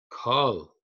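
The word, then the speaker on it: כָּל: That's a what we call a kamatz katan, and it's written big, so we pronounce it o kol.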